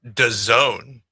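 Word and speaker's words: DAZN: First of all, it's pronounced the zone.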